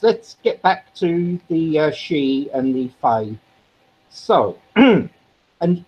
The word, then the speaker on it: Sidhe: She is spelled Sidhe, I believe, or Yep. Sihde. I know it's one of those.